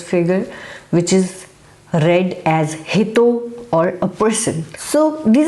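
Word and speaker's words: 人: derived from this figure which is read as hito or a person so these are some of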